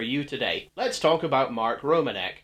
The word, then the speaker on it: Romanek: today let's talk about Mark Romanek Mark romanc Mark romanic Mark romanic there are different ways to pronounce it and they're all right uh I hope turns